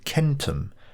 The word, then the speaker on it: centum: hundred over the Millennia it evolved into kentum which was how the Romans and Latins pronounced it from this we get